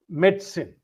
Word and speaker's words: medicine: Second, medicine. Again, don't emphasize the medi. Medson. The syllables are med and sin like almost as if it is s i n medicine.